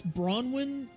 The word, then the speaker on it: Branwen: I need to ask: is the canon pronunciation Bronwyn or Branwyn? Because I've been doing Branwyn. I think it's Bronwyn because the way that the characters say it, both with Crow said it, Bronwyn. And it's Crow's name, so if anything, he knows how to say it. I'd say if you have to go by anyone, you have to go by how Crow pronounces it.